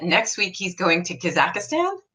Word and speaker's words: Kazakhstan: the name of that Kazakh Stan no Kazakhstan CAHSEE Kazakhstan and I'm hoping I'm saying it right because a lot of